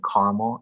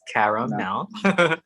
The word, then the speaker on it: CaraMel: I always get like, is your name Caramel? It's like, no, it's no. 3 syllables, CaraMel.